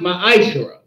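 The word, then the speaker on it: מעשר: Means tenth in Hebrew and is pronounced ma'ashra.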